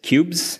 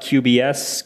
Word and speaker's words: Qbs: note regarding the pronunciation the official pronunciation is cubes it is not QBs cubes is not an acronym and it doesn't stand